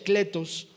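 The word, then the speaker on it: κλητός: esa palabra llamado es una palabra griega que que pronuncia cletos que es invitado o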